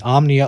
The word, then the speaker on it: Omnia: Omnia is spelled O-M-N-I-A.